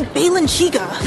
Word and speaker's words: Balenciaga: You guys, it's obviously Balenciaga.